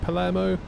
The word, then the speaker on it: Palermo: Am I pronouncing that right? Palermo?